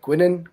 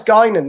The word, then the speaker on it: Guinan: good i will admit when you first joined it's like gwinning gwinning oh it's gaining then you hear hear